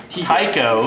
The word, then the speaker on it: Tycho: lost Tycho is how you say the name. It's not. Tycho. Tycho is T-Y-C-O. You guys can debate that on the internet. We'll see what people say. Is it Tycho or Tico?